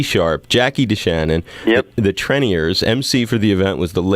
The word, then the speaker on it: Treniers: The Treniers, that's how you say it.